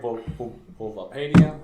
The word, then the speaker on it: Bulbapedia: And I like Bulbapedia. That's how you pronounce it.